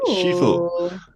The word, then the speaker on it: Sifu: For me, number 2 would be a game that hasn't actually been mentioned in this episode, and that is the game called Sifu, pronounced Shifu, Nice.